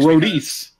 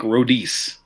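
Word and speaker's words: Rodese: That's actually no Rodice. Rodice. Rodice. They speak Rodice.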